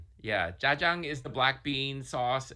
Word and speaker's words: jajang: i'm gonna ask you to help us all pronounce this dish correctly yeah jajang is the black bean sauce and myan just